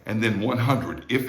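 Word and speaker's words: cien: 100. So it's like the word yen, like the Japanese money yen, with an S sound in front of it, which of course it's spelled with a C.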